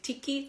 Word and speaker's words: tiki: room tick Ticky these you have to say Ticky room Ticky room and don't forget the